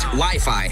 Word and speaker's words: Wi-Fi: Wifey? It's actually pronounced Wi-Fi, Ralph.